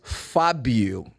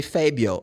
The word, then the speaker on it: Fabio: Anyway, so my name is Fabio. Fabio, but they normally say Fabio.